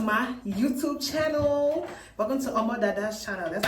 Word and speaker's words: Omo Dada: Omo Dada. Omo Dada. Whatever way. I don't know. Om dada. Omada. Yes, that's how you pronounce the name cuz that's the nickname my parents gave me and all the family friends call me that too.